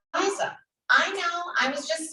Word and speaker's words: Aiza: I'm saying the name wrong. It's Aiza.